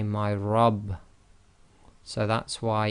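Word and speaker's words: رب: you cannot say my R you say my Rob so that's why it's Rob instead of RAB is because the letter ra with f must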